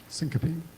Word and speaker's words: syncope: left them all there it's spelled like sync copy s-y-n-c-o-p syncope okay it's all coming